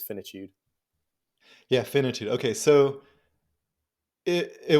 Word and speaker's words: finitude: Finitude?